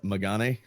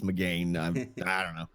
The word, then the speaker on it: McGann: is I always forget I always forget how to say this because my brain wants to interpret that with my american-style English as magani but I believe it's McGann McCain in that and